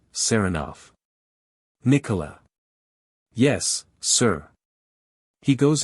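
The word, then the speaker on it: Saranoff: him round this way he pronounces the name with the stress on the second syllable seroff Nicola yes sir he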